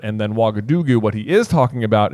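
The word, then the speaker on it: Ouagadougou: Wagadugu is a real place, and actually, the reason I'm pronouncing it correctly is because I looked it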